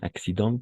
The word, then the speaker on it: accident: Este accident, como en este caso igual, atención, accident comme prudent, d'accord? En. Prudent, accident, como el don, como la dent, el diente. Igual, la dent, accident, prudent.